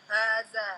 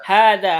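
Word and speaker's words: هذا: Hanya panjang tidak? Panjang. Panjang. Daknya panjang tidak? panjang. Panjang. Walaupun haknya nggak ada tanda panjang gitu ya. Rambu-rambu untuk panjang. Tapi kita membacanya panjang. Kenapa? Karena ada Kenapa? Karena kalau da ini panjang karena ada alif ya.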